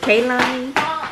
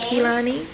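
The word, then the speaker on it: Keilani: So the proper way to say it is Kaylani, but it's spelled K-E-I like Keith. So I'm kind of like, I can say Kilani, Americanized.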